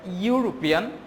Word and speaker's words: European: European he is European if I want to produce the word European our sound comes first like you hear our sound comes like you so if your sound